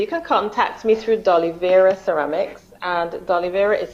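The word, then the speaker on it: Doliveira: us okay so you can contact me through dolya Ceramics and dolya is spelled D o l i v e i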